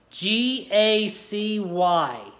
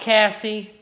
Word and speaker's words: Gacy: G-A-C-Y, not Cassie, Gacy.